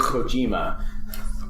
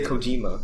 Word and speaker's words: Kojima: nancy kojima he's italian that went down my throat you don't say Kojima he's Manitoba close Kojima call joe mcusic ojima